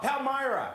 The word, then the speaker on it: Palmyra: Palmyra.